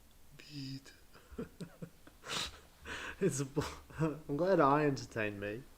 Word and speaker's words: Vite: Vite is the French word for quick, apparently. Maybe I should be saying it right. Vite. Vite.